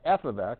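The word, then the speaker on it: f(x): got G of X that's how you say it out loud with the parentheses it's weird because you think that means multiply stuff together it does not we'll say it once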